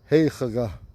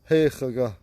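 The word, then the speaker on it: Héxagà: It's called Heichaga. Heichaga. It's that X. Heichaga. It's spelled H E with an acute mark above it.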